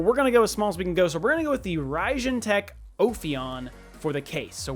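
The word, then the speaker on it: Raijintek: cases uh the rajan ryzen tech ophion i believe it's ryzen tech not raging tech i've been saying it wrong uh so we've got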